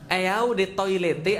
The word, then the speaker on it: Eau de Toilette: Eau de Toilette artinya adalah eau de toilet bacanya.